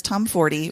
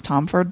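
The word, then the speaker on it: Tomforde: a couple as well first there's from Liz Tom fory which that is how you say her name I always thought it was tomford but when I saw her in Chicago it's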